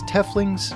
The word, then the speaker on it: Tiefling: Welcome to a video about Tieflings, who you can also pronounce as Teflings, Tieflings, or TIE Fighters.